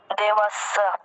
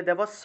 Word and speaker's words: দেবস্য: আচ্ছা তারপরে 18 নম্বর দেবাস দেবাস জ ফলার উচ্চারণটা কোথায় জফলের উচ্চারণ কি ইয় হবে না তাহলে দেবস্য হবে কি উচ্চারণ হবে এইভাবে উচ্চারণ হবে দেব দেবাসিয়া এইভাবে যাই হোক খুব ভালো